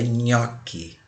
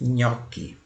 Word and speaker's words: nhoque: gosta de comer chamada nhoque Observe que embora escrevamos com GN qui Originalmente italiano GN mas nós pronunciamos como se fosse uma NH nhoque nhoque bem italiano aí